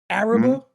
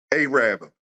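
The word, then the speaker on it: Arabber: Did I pronounce that right? Yeah. Yep, Charlie Rudo's. Key Highway, Araba? A-rabber.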